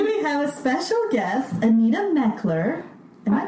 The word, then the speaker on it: Anita Mechler: Today we have a special guest, Anita Mechler. Am I pronouncing that?